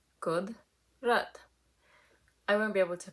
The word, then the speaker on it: Kudrat: It's easier if you split it into 2. Kudrat.